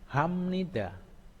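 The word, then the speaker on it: 합니다: Ini hapnida. Hapnida. Hapnida. Membacanya hamnida. Hamnida.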